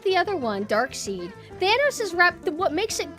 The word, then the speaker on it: Darkseid: I thought it's like, I was pronouncing it Darkseid because I thought it was written like S-E-I-D. So it's Dark Side. Darkseid, it sounds cooler. As long as you're not thinking S-E-E-D, then that's lame.